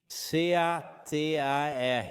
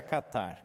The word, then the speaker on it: Catar: C-A-T-A-R. Acho que mudaram a pronúncia, mas para mim sempre será Catar.